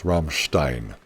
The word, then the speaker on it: Rammstein: It's Rammstein, right? E-I-N is Ein.